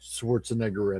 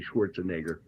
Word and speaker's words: Schwarzenegger: I told you 2 parts in his name: Schwarzen and Egger. Yeah. Egger, not Schwarzenegger. Yeah, you say Schwarzenegger.